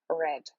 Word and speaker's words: read: Обратите внимание, что глагол read, читать, в прошедшей форме пишется точно так же, как и в present simple, в обычной форме, но читается он по-другому. Читается он будет как read.